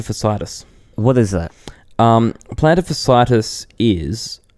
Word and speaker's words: fasciitis: Plantar fasciitis is a... tendon. How do I spell it? Plantar, like a plant. A plantar right next to you. Fasciitis. FASCITIS. CITIIS. Fasciitis. It's like a tendon that